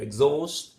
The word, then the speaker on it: exhaust: While the first transcription there, exhaust, the stress is on the second, you see primary stress on the second syllable.